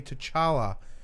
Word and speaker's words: T'Challa: Wakanda chadwick scaredy's actually T'Challa oh sorry in session thank you very much yes we do appreciate the yeah I believe it's pronounced T Challa oh sorry - Charla